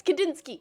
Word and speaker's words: Kandinsky: I'm making sure I'm pronouncing it right. Yes, Kandinsky.